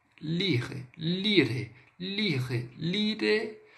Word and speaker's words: lire: A primeira aí, a mais utilizada, é o lire, tá? Vamos lá, vamos pronunciar o ler em francês de forma correta. Lire, lire, d'accord? Lire.